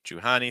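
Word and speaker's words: Juhani: real quick fast oh Jani Jani not too strong on the H Jani stressing the second Sil again and then Johannes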